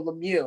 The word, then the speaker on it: Lemieux: you know it's mario lemieux and the x is silent but some actually said